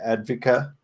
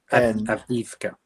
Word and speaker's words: Avdiivka: Advika? Avdiivka.